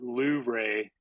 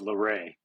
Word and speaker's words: Luray: And yes, the locals call it Luray, although it's spelled Luray. And I say Luray, but I'm constantly being corrected by the locals.